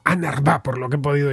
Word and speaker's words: UNRWA: siglas en inglés y se pronuncia algo así como anar por lo que he